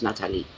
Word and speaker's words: Natalie: Yes, it's Natalie, and it's spelled Natalie, and no matter what language, French or English, but the proper pronunciation is Nathalie. Nathalie.